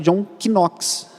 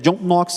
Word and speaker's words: John Knox: É comum alguns irmãos pronunciarem John Knox, considerando a pronúncia do K, mas é uma pronúncia equivocada. A pronúncia é John Knox, ignorando esse primeiro K.